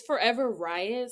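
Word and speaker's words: Forever Wriot: is it forever right it's forever Riot so kind of like a play on Riot but with writing okay so everyone it's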